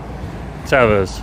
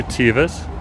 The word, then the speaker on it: Teva: Some good old trusty Tevas or Tivas, depending on how you want to pronounce it.